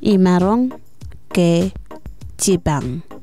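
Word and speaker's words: Imaroñ ke jibañ: In Marshallese, the hen with the line above it sounds like similar to the English ing. For example, running or dancing, but without the I. So it pronounced Imarong ke jibang.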